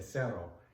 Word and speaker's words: cero: If you said zero in Spanish, you would say cero.